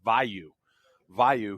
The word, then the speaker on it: Vu: Um that is, let me pronounce that correctly. That's Vou who's just a hammer at fullback.